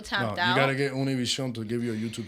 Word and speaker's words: Univision: Univision. For the ones that don't speak Spanish. For those. That's how it's pronounced in English.